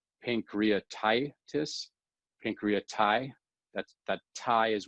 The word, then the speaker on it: pancreatitis: we're looking at like pancreatitis pancreati that's that tie is where we're putting the emphasis on it pancreatitis when we say pancreatitis that that emphasis is on the tie this again is where